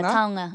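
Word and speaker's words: taonga: Tonga. Yeah. Tonga. Yeah. Nice pronunciation.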